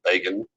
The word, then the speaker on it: Begin: And the new prime minister of Israel, Menachem Begin, that's how you pronounce that name, Begin, it's like begin.